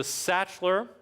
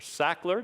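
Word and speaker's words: Sachtler: order of cost so the satcheler or sackler depending on how you want to pronounce it then miller and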